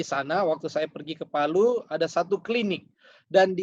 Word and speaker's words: Palu: In Palau? Saya telah menyaksikan sendiri apa yang dimaksudkan oleh ayat firman Tuhan ini di Palu, Sulawesi Tengah.